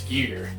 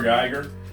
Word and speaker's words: Giger: Giger made. Yeah. To pronounce everybody's last name correctly. Did you know he was not H.R. Geiger? It's not Geiger, no. It's Giger.